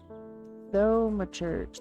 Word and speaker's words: thaumaturge: First of all, to make sure I'm saying that right. Thaumaturge. So that is a performer. So it's thaumaturge. Thaumaturge. I've been saying it wrong.